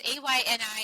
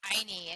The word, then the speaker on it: Ayni: It's Ayni, and it's pronounced Ayni, and it's a Quechua word from the Karo people.